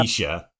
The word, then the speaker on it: Letitia: And then I looked at your thing on Discord where you actually like put the proper pronunciation. I'm like, oh, Yep. Letitia.